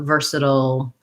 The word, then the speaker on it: versatile: versatile job skills um we have first syllable stress we have the er sound so it's just like the ver in the word version um versa this one just like in vice versa has the schwa sound so it sounds like